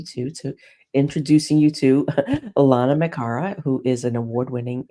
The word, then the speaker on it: Lana: to say my name I say Lana rhymes with Donna I'm GNA remember that